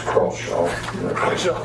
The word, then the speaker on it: Crawshaw: Just for the record, it's Crawshaw.